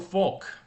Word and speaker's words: Faulk: And if you say his name, Faulk, it sounds like a folk tale, right?